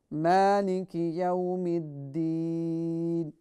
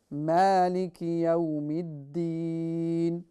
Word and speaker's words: مالك يوم الدين: Maliki Yawmiddin. So the meme joins with the dal, and the dal is pronounced as if the tongue is trying to come out of your mouth, but